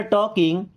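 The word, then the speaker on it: talking: हैं okay we were टॉकिंग we means होता है हम वर मींस थे टॉकिंग देखिए यहां पे एल साइलेंट है ना टॉक टॉक मींस बात करना आई एन जी टॉकिंग बात कर रहे थे।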